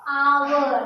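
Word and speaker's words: hour: इसको आवर। क्या पढ़ रहे हैं? आवर पढ़ रहे हैं। इसीलिए यहाँ पे क्या लगेगा? एन लगेगा। क्यों? क्योंकि यहाँ पे एच जो है वो साइलेंट हो गया।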